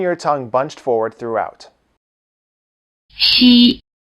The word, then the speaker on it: 西: 西西西 The sound value of the letter